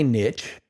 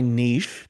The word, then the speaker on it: niche: is my opportunity to find my niche or my niche depending on how you like to pronounce it the same way you're